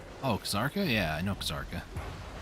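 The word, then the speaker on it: Kzarka: It's like how somebody once told me, it's pronounced Zarka. The K is silent. Oh, Kazarka?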